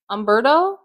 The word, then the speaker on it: Humberto: Humberto? You said Humberto. Oh, I didn't know I said the H.